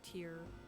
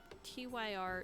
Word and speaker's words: Tyr: and odin and thor but i didn't know tear and i knew loki but that was about the extent of my norse knowledge tyr is tyr is how it's spelled and it's